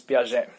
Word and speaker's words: Piaget: The pronunciation, the original pronunciation is Piaget.